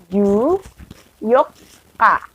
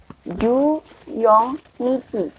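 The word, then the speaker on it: 十四日: Karena dia menggunakan pengucapan tanggal 4 yang yoka. Jadi 14 adalah ju yoka. Bukan ju yong nichi atau ju nichi.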